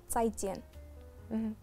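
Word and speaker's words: 再见: مع السلامة تنطق تساي جين.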